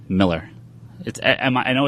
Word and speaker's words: Millar: just Miller mmm it's Miller no it's no it's Miller dude I live on the lore I know it is pronounced Miller it Sam I know